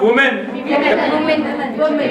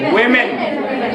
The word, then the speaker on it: women: The pronunciation of this word is not woman. Women. Women. The pronunciation is women.